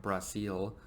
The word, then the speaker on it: Brasil: I know they pronounce it differently. It's more like Brasil.